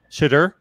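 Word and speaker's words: Shedeur: And we are a little bit sketchy on the pronunciation of his first name. Shadur.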